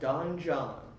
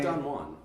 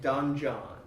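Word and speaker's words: Don Jon: trailer we're going to talk about is called Don John. Yep. Not Don Juan. Not Don. We're not pronouncing it wrong. We're somewhat educated. Don it John. is DonJon. Yep. Don John.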